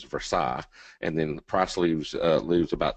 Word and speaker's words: Versailles: I live in a small community called, well, the rednecks around here pronounce it Versailles. The proper pronunciation is Versailles, and then Price lives about 20 minutes to the east in Lexington, Kentucky.